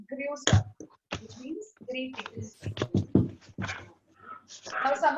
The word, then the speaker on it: Grüße: It's double S, beta sign here, and U with umlaut with those 2 dots. So we pronounce it as Grüße, which means greetings.